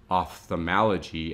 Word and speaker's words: ophthalmology: terms remember that that when you see that oph th off thal off thalmo is how we're going to pronounce that so such as in the term ophthalmology as it's pointed out here it's really that o f this type of sound oph ophthalmology we are now